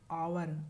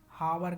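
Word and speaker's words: hour: यहाँ दोस्तों वावेल से शुरू हो रहा है, एच साइलेंट है, न कि हम लोग इसका एच देखकर उच्चारण करके आवर, हावर करेंगे, हावर नहीं आवर है, यच साइलेंट है, हावर आवर है, यहाँ हम लोग एन का प्रयोग करेंगे।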